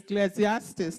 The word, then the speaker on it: Ecclesiastes: twist my tongue here it's Ecclesiastes that's like five syllables chapter nine verse 10.